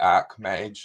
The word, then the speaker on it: Archmage: A lot of people say Archmage in line with Archangel in the sort of traditional pronunciation, and we accept either.